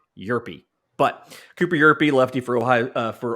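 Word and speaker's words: Hjerpe: I've been saying Herpe. I was trying way too hard. It's Cooper Yerpe.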